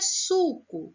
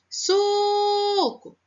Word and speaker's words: suco: Para a palavrinha suco, vamos lá chamar? Suco. Vamos chamar de novo. Suco. Opa, conseguiu escutar? Isso mesmo, foi o su. Então, o su é a sílaba mais forte.